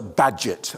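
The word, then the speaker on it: Bagehot: was a journalist called Walter badget and I know it looks a bit of a strange name that's how his name is pronounced and he came up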